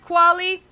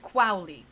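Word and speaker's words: Qualley: So, for clarification, I searched up um how to pronounce Margaret Quali's um last name. It's uh Margaret Quowi.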